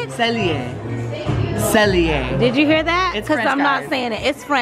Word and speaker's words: Cellier: Cellier.